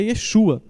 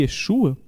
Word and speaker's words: Yeshua: Jesus não é Jesus, que a pronúncia correta, o nome correto de Jesus é Yeshua e que devemos chamá-lo de Yeshua Ramashia, né? Essa talvez seja a pronúncia correta da época, pois naquela época eles